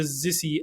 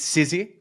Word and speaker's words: Sizzy: still have is the zissy app browser ah so close everyone pronounces it differently I actually paid I paid it's sizzy sizzy and I paid to